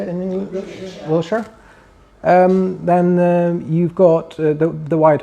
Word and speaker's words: Wiltshire: Wiltshire.